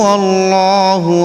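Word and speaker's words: الله: এখানে জবর অথবা পেশ থাকলে আল্লাহ শব্দের ডান পাশে জবর অথবা পেশ থাকলে ল অর্থাৎ মোটা করে উচ্চারণ করতে হয়।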